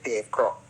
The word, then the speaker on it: Croce: Kata Croce, bukan Crocs slipper yang kita pakai tu, tapi yang nama dia Croce. Ejaan dia macam tu, tapi sebutan dia Croce.